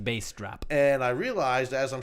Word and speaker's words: Bastrop: pronounced bass drop.